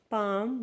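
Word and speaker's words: palm: Next, जब भी L के बाद M आता है, L के बाद M आता है तो L हमारा साइलेंट होता है, जिसको हम एफ्थोंग्स बोलते हैं।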